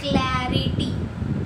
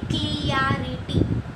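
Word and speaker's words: clarity: अब कभी कभी मैंने ये सुना है कि लोग बोलते हैं क्लियरिटी, तो वो पूरी तरीके से गलत है।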